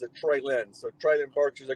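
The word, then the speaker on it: Treylon: Yeah, it's Lon, but he pronounces it Traylon.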